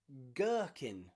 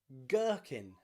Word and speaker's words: gherkin: bit special is because when g is at the beginning of a word and it's followed by the letter h it means the h is silent okay and the g